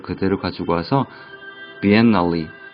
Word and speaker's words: biennale: 그 발음을 그대로 가지고 와서 biennale, biennale.